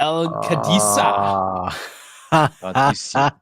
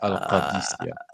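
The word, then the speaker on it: Al-Qadisiyah: Protegi, the El Cadisa. Yeah, you have to say it like Arabic. Al Qadisiyah.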